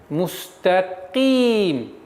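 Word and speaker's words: مستقيم: Теперь каф, звук каф. Каф твердый звук, но при появлении кесры она переходит на мягкость произношения. Мустаким. Ки. И никакого влияния твердость не должно не оказывать на та. Итого получается мустаким.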